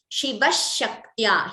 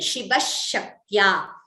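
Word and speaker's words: शिवः शक्त्या: So here example, Shiva Shaktya, here sh and a, and here you have k and t and ya. So the letters should be pronounced clearly, Shiva Shaktya, and here Yuktaha, ka and ta.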